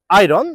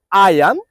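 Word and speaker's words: iron: continent ইন the world আমাদের পরবর্তী শব্দটি হচ্ছে আইরন আমরা সবাই পড়ি হচ্ছে আইরন কিন্তু এই শব্দটি আমরা ভুল উচ্চারণ করে থাকি তো আজকের পর থেকে আপনারা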